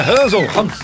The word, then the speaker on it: Hans: aí ao nosso querido rans F rans é rans prazer estar aqui com vocês e a pronúncia Hans mesmo não sei não sou alemão